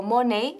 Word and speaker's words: money: of bastante bien Ahora Cuidado con la pronunciación que no es Money o money sino money money funny Money funny Money Honey todo rima verdad bien Vamos a